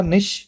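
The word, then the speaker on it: niche: चलिए last word है आज का निश। यह भी बड़ा कॉमन वर्ड है। इसकी दो प्रोनाउंसिएशन है। पहला है निश दूसरा है निच। दोनों ही सही है। जो बोलना चाहो बोल सकते हो। नीच मत बोलना।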